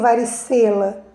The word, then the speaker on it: varicela: Então, qual é a sílaba mais forte? Varicela. Olha o sé. Eu não leio varicela, eu leio varicela. Então, a sílaba mais forte é o sé.